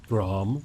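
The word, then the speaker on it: Gram: of his sword the sword named graham with a silent r because casual next thing you're gonna start talking french with all the hidden letters everywhere let's looks like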